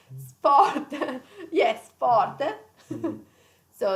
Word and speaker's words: sport: the sport is sport it's an italian pronunciation sport yes sport so it's